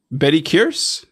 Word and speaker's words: Bettye Kearse: So is it just, it's pronounced Bettye? Bettye Kearse?